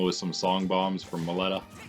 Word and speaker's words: Meloetta: Marth dealing with some song bombs from Maletta. I guess maybe it's pronounced Meloetta. That would kind of make sense. Melody. Meloetta.